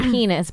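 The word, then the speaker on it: PEN15: It's called Penis, but it's spelled Pen 15.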